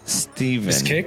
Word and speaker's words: Stefan: My friend's name is Steven, but it's spelled Stefan.